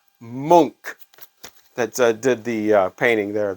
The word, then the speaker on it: Munch: got corrected XC actually munch it is not Munch that is just how it looks he is Edvard Monk that did the painting